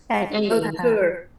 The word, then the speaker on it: occur: Jadi lafalnya kata ini adalah Occur. ya, occur. Occur. Misalnya contohnya tadi, stresnya terjadi di syllable pertama. Jadi the stress occurs, bukan occur. Occur.